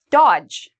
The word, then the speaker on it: dodge: and G together Grudge Dodge okay D and G are together so we get rid of Dodge so again if you see D and G don't pronounce the d the other time D